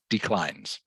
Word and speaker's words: declines: Norm declines it declines so you pronounce it to rhyme with climbs declines same cell okay okay